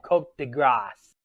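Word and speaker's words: coup de grâce: what so many call The Cult De Grace or cat de grass as how it's traditionally pronounce impossible you you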